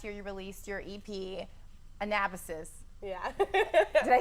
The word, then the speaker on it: Anabasis: And last year you released your EP, Anabasis.